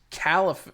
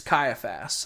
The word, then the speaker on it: Caiaphas: Ben Kingsley as High Priest Caliph, or I forget how you say his name, but Where's my father-in-law? I think it's Caiaphas. It's Caiaphas.